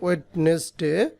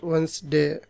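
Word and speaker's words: Wednesday: অ্যাশেস দ্বারা অ্যাশ ওয়েনসডে আপনারা পড়েন ওয়েডনেস ডে এটা উচ্চারণ হবে অ্যাশ ওয়েনসডে তাহলে পাঁচটি সাহিত্যকর্ম সম্পর্কে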